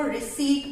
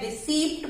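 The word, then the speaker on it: receipt: मुझे रसीद दे दी, but English में हम इसको रिसीट बोलते हैं, रिसीप्ट बोलते हैं बहुत सारे लोग, क्योंकि पी है इसमें तो रिसीप्ट बोलते हैं generally, but this is नॉट रिसीप्ट।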